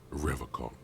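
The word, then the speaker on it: Revachol: on you said Revol I like to pronounce it the hard way the old way the vespertine way he nods solemnly he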